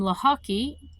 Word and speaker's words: Lochocki: But looking at it, it's just, think of lacrosse and hockey combined, Lochocki.